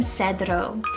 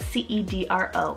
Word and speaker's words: Cedro: with the nature theme i have the name cedro spelt c-e-d-r-o or cedro and this one directly means cedar